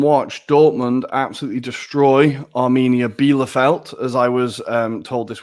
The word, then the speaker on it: Bielefeld: In the Bundesliga, I sat and watched Dortmund absolutely destroy Arminia Bielefeld, as I was told this weekend. I've been saying it wrong. It is Bielefeld, as Jadon Sancho has broken another record.